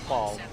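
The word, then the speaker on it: phal: It's spelled P-H-A-L. It's pronounced fall.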